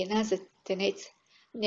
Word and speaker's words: Тенец: него заедно с молбата, да произнесаме правилно името му, като поставяме ударението на последната сричка – тенец.